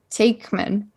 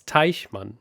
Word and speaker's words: Teichmann: I don't know where I heard that quote from, but some guy named Richard Takeman.